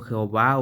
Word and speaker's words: Jehová: Con esta vocal es ye o gua, que es la pronunciación Jehová o Jehová.